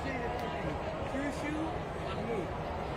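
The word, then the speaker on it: Mahmud: And then pronounce it for me. Tusu Mahmoud.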